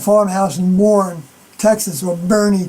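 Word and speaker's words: Boerne: in Warren, Texas, or Bernie, Texas, I think is the way the proper way to say it, Bernie, Texas.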